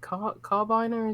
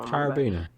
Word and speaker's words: carabiner: You can attach your, is it carbiner? Is that how you pronounce it? The thingy, all the rock climbing people know. Carabiner. Carabiner.